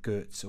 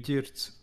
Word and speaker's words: Ģirts: We have this soft G, and then correct one would be Ģirts.